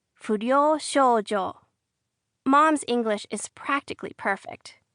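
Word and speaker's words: furyou shoujo: Footnote, it's spelled something like f u r y o u s h o u j o if you want to write it in English, you say it fojo.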